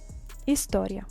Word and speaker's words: historia: Historia which is history Historia remember the H is always silence silent hisor geographia geographia